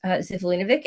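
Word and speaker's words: Živojinović: pronounce Alex Lifeson's real last name, which is Zivlinovic, and I can also spell it, but I'm not going to, because he's a child of Hungarian immigrants.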